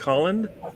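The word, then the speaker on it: Haaland: season Gary I pronounce how do I say Harland Holland Mike Collins not the man I could say what like Holland it's like you're saying like you're saying a Hollander basically but all right I'm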